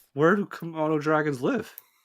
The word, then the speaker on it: Komodo: Is it Komodo? Am I saying it correctly? Yeah. Yeah. Komodo. It's Komodo. Yeah.